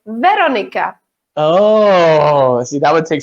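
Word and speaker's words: Veronika: We have the stress on the first syllable. So we say Veronica.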